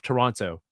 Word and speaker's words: Toronto: Like when I go to San Diego, I have to say every syllable, every letter in Toronto. Oh, where are you from? Toronto. Oh, you have to add the T.